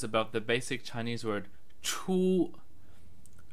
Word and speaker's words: 出: the basic chinese word choo choo pronounced in the first tone which means out here